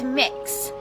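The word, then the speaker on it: Mx: It's mix. So kind of like cookie mix or mixing bowl, that sort of thing. That's how it's pronounced.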